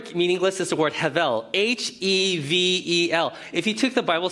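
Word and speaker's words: הבל: Well, in the Hebrew, the word for meaningless is the word hevel, H-E-V-E-L. If you took the Bible study course with us, the name Abel is actually pronounced hevel.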